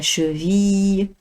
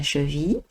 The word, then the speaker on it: cheville: Le mollet, la cheville, ردوا البال النطق ما كنقولوش la cheville, لا, la cheville بحال الياء في الاخر, la cheville, très bien, et le pied.